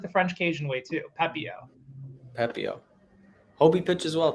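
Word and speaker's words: Pepiot: were going with but i think that is like the the french pronunciation i think it's also like the french cajun way too pepeo pepio hobie pitch as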